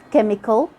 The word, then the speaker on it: chemical: But sometimes the H is silent. We just ignore it in the CH and we only pronounce the sound of the C, K. Like when you say school, chemical, chemistry, mechanic.